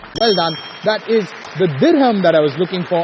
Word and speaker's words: dirham: The answer is dirham. Dirham. D-I-R-H-A-M. D-I-R-H-A-M. Dirham. Yes. You're sure? Yes. Well done. That is the dirham that I was looking for as the answer, and a good answer on that one.